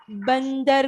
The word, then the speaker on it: बंदर: के पहले अंग आएगा, तो हम इसे न कहकर प्रोनाउंस करेंगे, न न न।